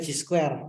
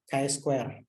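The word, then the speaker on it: chi-square: Mahasiswa sering bilangnya C square. Padahal cara bacanya itu adalah Kai Kai square.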